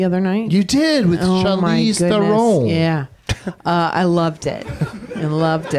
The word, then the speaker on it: Charlize: You did with Charlize Theron. Yeah. I loved it. I loved it. I did not pronounce that right.